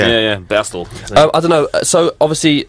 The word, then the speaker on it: Bastille: in in in Dutch it's B yeah yeah bastel I don't know so obviously um we're named after uh Dan's B which is BAS day but we say basti cuz we're English but like basti and I